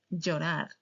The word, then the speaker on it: llorar: That's la sound similar to Y in English. And the sound is like this. Yanta. Yanta. Yama. Yama. Llave, llave. Llorar llorar.